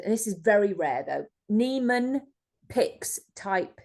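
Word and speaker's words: Niemann-Pick: Neeman piics type c so the Nan is spelled n i e m a n n i yeah n i m uh n i e m n n pixs apostrophe C so p i c k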